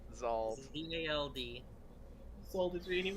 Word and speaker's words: Zald: I want to make sure I pronounce it correctly. Zald. Zald. Zald. Zald.